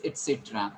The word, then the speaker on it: etc.: And how to pronounce it is it is not a, so you don't pronounce a. There is no a, but it is e sound. Okay, you have to call it etc.